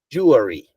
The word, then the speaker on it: jewelry: so it's jewy jewy jewry jewelry okay jewry jewelry so that's how we pronounce it yeah and then come back here